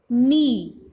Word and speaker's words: knee: नॉट, नाइफ, knee. Not, knife, knee. And the silent letter in these words are K.